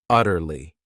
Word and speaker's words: utterly: This word has 3 syllables, and the stress is on that first syllable, utterly.